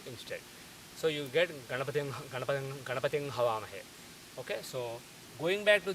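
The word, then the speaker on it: गणपतिं हवामहे: This comes, for example, in the standard Ganapati mantra, Om Gananaham Tva Ganapati Gum, people say, but the correct pronunciation is Om Gananaham Tva Ganapating Havamahe.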